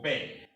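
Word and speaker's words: Bär: auto a new car this a with the umlaut on top has a long pronunciation of a so a like in english a so words that bear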